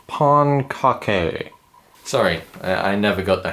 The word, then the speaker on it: Pancake: joined here today with a very special guest Mr Pancake um am I pronouncing that right uh actually it's pronounced Pon Kake sorry I never got the hang of spatulas